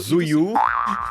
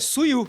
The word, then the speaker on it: Suyu: Zuyu. E aí eu queria Não, saber, mas qual cara... que é o nome? Não, é sério, Suyu. Suyu, eu falei Zuyu, só invertendo a sílaba.